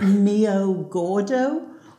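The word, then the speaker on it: meio gordo: So basically, this is called, pronounce it mio gordo, or basically it's semi-skimmed milk.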